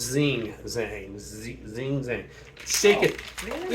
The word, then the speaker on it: Zing Zang: It's zigzag. Zigzag. No, it's Zing Zang.